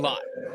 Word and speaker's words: Lott: He said, you say it like latte without the E. So we're back at Kristen Lott.